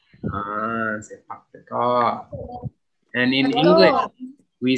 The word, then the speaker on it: sepak takraw: Sepak takraw. Sepak takraw.